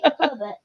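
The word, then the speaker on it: Québec: all the time so it's like it's like saying like K and then Beck Quebec I say Quebec you still say Quebec yes which one is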